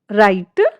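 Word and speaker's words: write: इसका रूल्स हमारा क्या कहता है, जब शब्द की शुरुआत में आर से पहले डब्ल्यू आता है तो डब्ल्यू जो है वो हमारा साइलेंट रहता है। एग्जाम्पल से देखें, राइट, रॉन्ग, रिस्ट।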